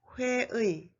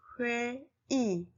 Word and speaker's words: 회의: Number 2, the vowel 의 is pronounced as 이, except for the first syllable of a word.